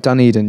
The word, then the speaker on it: Dunedin: Do you remember when you were in New Zealand, you went to a place called, was it Dunedin or Dunedin? Dunedin, yeah.